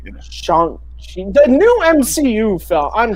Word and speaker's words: Shang-Chi: They have a whole trailer where he pronounces it to Aquafina. It's Shang-Chi. Shang-Chi.